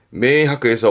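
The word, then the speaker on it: 明白: 발음은 메이하크에서 뭐 명백한 사실이다 하면서 메이하크다.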